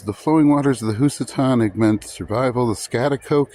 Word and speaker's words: Housatonic: think that is, or housatonic. Housatonic! Oh! And other names. It was later spelled Housatonic, which is the correct way to say it, because I went to Housatonic.